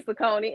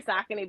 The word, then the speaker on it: Saucony: So but I tell people y'all say Saucony, ain't nothing wrong with it. But I say Saucony because that's actually how you pronounce it.